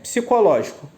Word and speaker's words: psicológico: psicológico é Santuário simples uma palavra proparoxítona né separam silabicamente se for lógico uma palavra polissílaba né pode sílaba é a palavra que contém 4 ou mais sílabas em uma palavra polissílaba e proparoxítona a tonicidade está no lote né que a antepenúltima sílaba pela regra toda proparoxítona